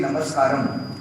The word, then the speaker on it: Namaskaram: We used to say Namaskar, but then the Sadhguru told me, like, the proper word is like, if we say with the Sanskrit thing, the original thing, we say Namaskaram.